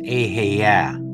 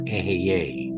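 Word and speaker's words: Ehyeh: The most powerful way to name it is an extraction from the Bible, and it's the word I am, or pronounced Ahaya or Ahaye.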